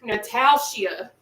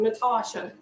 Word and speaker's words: Nataushia: State Track M and they would pronounce my name Natalia how do you get Natalia out of Natasha but you know to